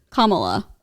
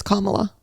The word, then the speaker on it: Kamala: And anytime I've watched debates on TikTok, every person who doesn't like her calls her Kamala. And her name is Kamala. That's how you say it.